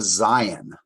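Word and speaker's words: Zayin: And that's a Zion. I spell it Z-A-Y-I-N.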